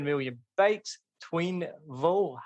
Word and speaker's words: Thuyen: So it's actually Thuyen. Thuyen. Okay, I can get Thuyen. Yeah. Thuyen. That's not too bad. Yeah, that's pretty good. And a lot of people mispronounce it as twin.